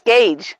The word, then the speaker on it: Gage: Is it? It is, yes. It's Gage.